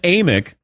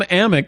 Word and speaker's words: Amick: on last time and he goes it's you know it's with with an a it's a long a it's amick and I went no